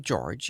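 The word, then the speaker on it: Jorge: the office hores al-hamid in spite of the French spelling he pronounced the name George in the English manner he had welcomed the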